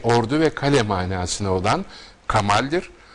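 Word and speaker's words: Kamâl: ve kale manasına olan Kamal son anın tahfif işareti l'yi yumuşattığı için telaffuz hemen hemen Arapça Kemal telaffuzuna yaklaşır benzeş bundan ibarettir deyip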